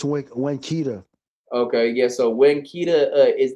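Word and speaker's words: Winnetka: I slip up and try to pronounce the T, but it's Winkita.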